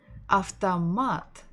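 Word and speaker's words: автомат: word ah the mat after mat stressing the final syllable of tamat after mat so can you guess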